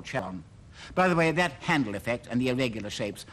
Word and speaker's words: Charon: And I do realize that the name really should be pronounced Charon, but that causes confusion with another body, as I'll explain later, so I'm going to call it Charon, and pronunciation experts, please don't write to me about it.